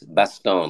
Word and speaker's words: Baston: Oh, it's French. So it's Baston, like Gaston from, right.